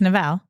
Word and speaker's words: Neville: Yeah, it's not Neville. No. Right? It's Neville.